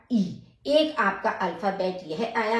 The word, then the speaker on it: I: आई, आई का उच्चारण ई।